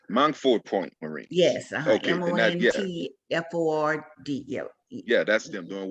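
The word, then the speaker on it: Montford Point: Yes, Okay, Montford.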